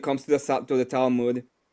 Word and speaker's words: Talmud: I like how you call it the Talmood. The we just to pronunciate phonetically like we would call it the Talmud. Like it's more it's more guttural like just Telmood sounds way sexier.